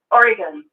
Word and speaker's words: Oregon: It's pronounced Oregon. I know. I always that's a Boston way of saying it.